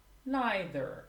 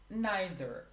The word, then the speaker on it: neither: She speaks neither German nor English. As for the pronunciation, I forgot to mention, you can pronounce either or either. Neither or neither.